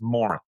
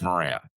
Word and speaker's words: Moran: But yes, I uh in Ireland it's it's Morin. Morren. Morren is how you say it. Oh, and in here it's Moran.